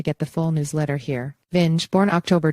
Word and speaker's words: Vinge: farewell message on Facebook Vin pronounced Ving received Hugo awards for